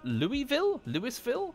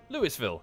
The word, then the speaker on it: Louisville: I've driven the car all the way to Louisville, where I raided a pawn shop, which was completely barricaded and untouched.